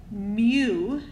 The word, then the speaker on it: mu: going to be this symbol and this we pronounce it mu it is the Greek letter M lowercase M